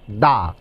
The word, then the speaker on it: the: যদি হয় কনসোনেন্ট দিয়ে সেই শব্দের পূর্বে যদি টি এইচ ই বসে তখন টি এইচ ই এর উচ্চারণটা হয় দা যেমন দা বয় দা স্কুল দা বিল্ডিং ধন্যবাদ আশা করি টি